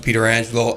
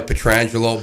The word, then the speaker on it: Pietrangelo: Yeah, we pronounce it Pieterangelo. Alex is my cousin Joe's son, so he's a second cousin of mine. He goes by Pietrangelo, but I told him he has to go